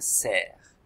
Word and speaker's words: cerf: Le cerf, ça s'écrit avec C, E, R et F muet, un cerf.